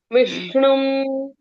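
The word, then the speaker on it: विष्णुम्: शुक्लाम बरधम विष्णुम शुक्लाम बरधरम विष्णुम विष्णुम में देखो आधे श को मैं कैसे स्ट्रेस करके पढ़ रही हूं क्योंकि वो आधा अक्षर है विष्णु आधा षटकोण का श विष्णुम इस तरह से विष्णुम मैंने पूरा पढ़ा है क्या बोलते है नहीं आपने सही से पढ़ा मैं बस आपको बता रही हूं कि जब भी आधे अक्षर आते हैं तब हम उनको स्ट्रेस देकर पढ़ते हैं।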